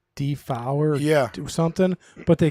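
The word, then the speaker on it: Dafoe: actually like it's not the vote it's actually pronounced like defower yeah do something but they kept saying to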